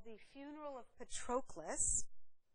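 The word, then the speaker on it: Patroclus: a um relief drawing called the funeral of Petras petres or Petras is a figure of the Trojan War and it's spelled p is in Paul a t r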